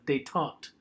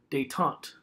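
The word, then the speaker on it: détente: it's a French word looks like detente it's pronounced they talked so say that in your head really quickly they talked now they taught what this means it's a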